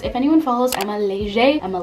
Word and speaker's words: Leger: If anyone follows, I'm a leger. I'm a legger. However you want to say it. It's actually pronounced leger, but everyone like shames me and they're like, it's legger, but it's actually leger.